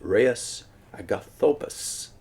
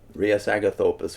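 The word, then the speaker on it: Rheus Agathopus: So too is Reus Agathopus. That could be, I'll spell it for you so you know, you can try to say it yourself. Reus, that is R-H-E-U-S, Agathopus, A-G-A-T-H-O-P-O-U-S. Reus Agathopus, one of the elect who has followed after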